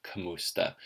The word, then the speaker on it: kamusta: you how is it you'll notice the word kamusta is often spelled kamusta either way sounds right just as long as you make sure to stress the second syllable which is mu so kamusta kamusta either way works and you probably already